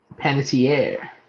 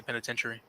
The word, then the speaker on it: Panettiere: Panettiere. Panettiere. I always say penitentiary.